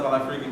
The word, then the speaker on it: Al-Afriqi: my name is Al-Afriqi, before I can even explain, girls go, "Oh, freaky!" And I'm like, "No, not that freaky, the other freaky."